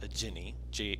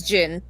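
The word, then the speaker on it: djinn: of them is a Jinny a DJ I yes I don't know how you pronounce that it's it's it's gin oh is it there's no I at the end is there am i just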